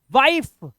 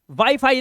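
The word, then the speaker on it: wife: पढ़ लो कहीं वाइफ को पिटाई हो जाएगी वाइफ वाईफाई नहीं इसी तरह से इसे लिफेल्ड के लास्ट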